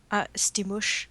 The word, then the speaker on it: Stimusch: She's also known as, I can't pronounce her name on DA. What is it? Stimusch.